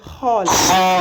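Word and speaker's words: خ: essayer de répéter à la suite de la prononciation de la lettre. On commence. Alif, Ba, Ta, Sa, Jim, Ha, Kha. Pour dire kha, vous ouvrez la bouche, d'accord?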